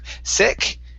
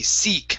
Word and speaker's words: seek: were saying seek okay make sure to pronounce that e sound instead of sick it's e seek hide and go seek okay hide and go